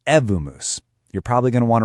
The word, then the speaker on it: Evmos: It's called Evmos, and just so we're all on the same page, it's pronounced Evmos.